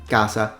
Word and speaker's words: casa: Note, however, that this only happens in post-vocalic position, so if you have a word on its own, cane, casa, they pronounce it like a k, but if there is a vowel before, it becomes la hasa.